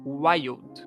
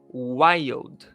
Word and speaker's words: wild: Wild. Repita aí comigo. Wild. Wild. Y do mineiro. Fala o Y do mineiro. E fala como se fosse o velho. Old. Wild. Já deu certo. Já conseguiu pronunciar.